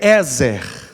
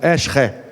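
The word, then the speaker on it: עזר: A palavra hebraica aqui é Ezer. Ezer. No hebraico a pronúncia seria algo parecido com Eshre.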